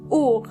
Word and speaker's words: Uhr: Uhr. Uhr means clock, and the H in this case is silent. Uhr.